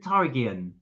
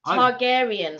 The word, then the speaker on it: Targaryen: Rastapharian Tarian is is one of the songs. Targaryen.